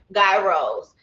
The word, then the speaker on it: gyros: That's how I said it, that's how it's said, gyros.